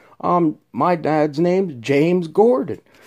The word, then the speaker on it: Gordon: Saturday the 19th because my last name is Gordon like I said rhymes with Jordan then I was I